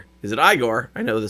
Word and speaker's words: Igor: in the original book in the original story of Frankenstein it is pronounced Igor but in Young Frankenstein it is pronounced igore so there we go